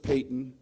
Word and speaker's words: Payton: were you Richard freshman George Payton it sounds like it's spelled like Patton but George Payton George Payton was on